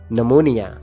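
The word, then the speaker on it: pneumonia: निमोनिया ही कहेंगे इसमें P silent है namonia हड्डियों का हम तौर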